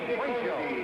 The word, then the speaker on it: Cuello: In Argentina, they pronounce the name Cuello, Miguel Cuello.